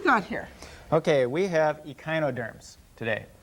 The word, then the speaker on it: echinoderm: Echinoderms. Do you know what an echinoderm is? They got spines on them. Excellent. In fact, we can take the name apart. What rhymes with echino, Meg? Rhino. Rhino.